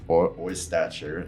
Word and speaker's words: Oystacher: Oystacher. It's just like it's spelled.